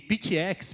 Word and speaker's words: PTX: E Pitx, pessoal, que é a pronúncia correta dessa marca global, é precisão, tecnologia e x de multiplicação, tá?